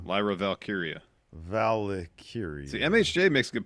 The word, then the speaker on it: Valkyria: Valkyria. See, MHJ makes a good point. Steve better learn to pronounce Lyra's name correctly if he wants in on those documentaries.